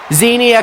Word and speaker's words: Xenia: I gotta be careful not to mess up their names, God, because there's one extra syllable in Xenia's name, whereas Xena is just Xena.